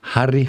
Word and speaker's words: Harry: acertou mesmo não olha porque normalmente o pessoal pronuncia meu nome por causa do Harry Potter e por aí a fora Prince Harry eles pronunciam Harry né Mas eu sou de origem holandesa né e Harry é o diminutivo de né então tem vários motivos para meu nome ser Harry fing eh uma É porque